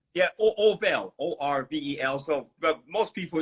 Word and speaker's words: Orvel: My name's spelled Orvel, but people think Orville.